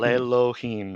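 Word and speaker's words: לֵאלֹהִים: The same So, thing happens with the word to God. Le Elohim yep, becomes le Elohim. lelohim, it quiesces. It becomes quiet. That's what quiesce means. It becomes quiet or it becomes silent.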